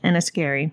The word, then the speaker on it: Enniskerry: It's pronounced Scotia. To a small town called Enniskerry.